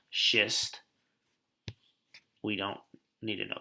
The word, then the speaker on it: schist: use this one here this is pronounced schist we don't need to